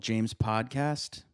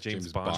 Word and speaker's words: James Bondcast: The show that you're listening to is called James Podcast. Yeah, did I say it right? Said James Bondcast.